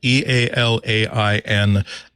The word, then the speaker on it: Ealain: It is actually, it's spelled Ealain. Brad is kind enough on his own personal blog to explain it's like Ali with a very soft N at the end of it.